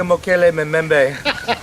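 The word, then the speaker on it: Mokele-mbembe: He smells like a Mokele Memembe.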